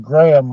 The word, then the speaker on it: Graham: could be all Sean it's pronounced Graham like graham cracker Graham oh Graham okay